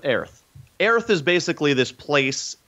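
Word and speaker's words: Oerth: It's spelled O E R T H. Yes. So pronounce it however you choose. There are three official pronunciations out there, but I'm gonna go with Aerith.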